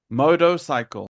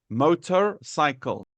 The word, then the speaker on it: motorcycle: they will say motorcycle moto cycle can you hear I did not put R moto cycle okay but